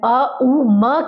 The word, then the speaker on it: ओम: इसमें हम एक लंबा गहरा श्वास लें, छोड़ते टाइम अ उ म की ध्वनि हम निकालेंगे।